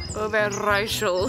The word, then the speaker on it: Overijssel: Overijssel? Roll your R. Overijssel.